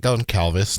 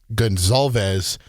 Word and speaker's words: Goncalves: It's not Matt Goncalves, not Matt Goncalves. It's Matt Gonzalez, offensive tackle from Pittsburgh.